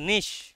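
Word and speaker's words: niche: cave itself in নিশ উচ্চারণটা নিচে নয় উচ্চারণটা নিশ নিশ মানে দেখবে ইউটিউবারদের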